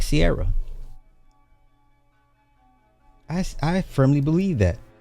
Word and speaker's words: Ciara: It's Ciara, not Seara.